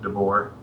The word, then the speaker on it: DeBoer: last name DeBoer oh i'm canadian i pronouncing Devore I'm not touch awesome